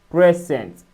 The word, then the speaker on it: present: English stress patterns often depends on whether a word is used as a noun, adjective or a verb. When present is used as a verb, meaning to give or to show, the stress falls on the second syllable. When used as a noun or an adjective, the stress falls on the first syllable.